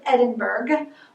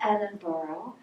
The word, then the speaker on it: Edinburgh: to look at it you're going to think it says edinburgh but you actually need to pronounce that edinboro and then way in